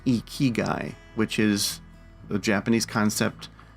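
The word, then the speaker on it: ikigai: me for a while my brain wants to pronounce this one iagi but apparently it's pronounced e keyy which is a Japanese concept that combines sort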